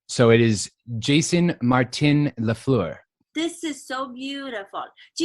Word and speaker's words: Lafleur: would say, but it's Lafleur is how I say it, Lafleur.